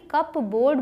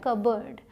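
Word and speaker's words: cupboard: ओ ए आर दी जो देखने में ग रहा है की कब बोर्ड बोलते होंगे इसको लेकिन इसे बोला जाता है कब्रैड सिंपल सा है कब्रैड पी यहां पे साइलेंट है दरवाजा वाले अलमारी हिट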